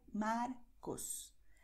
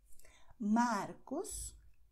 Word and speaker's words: Marcos: In diesen Kombinationen hier, das heißt R in Mitte des Wortes oder am Ende des Wortes, klingt fast wie Avocado, aber die Zunge ist schneller und es gibt weniger Kontakt. Markus, Mario, Murilo, André.